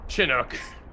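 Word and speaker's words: Chinook: Hate how they pronounce shinook in this game. Chinuk. They say Kok.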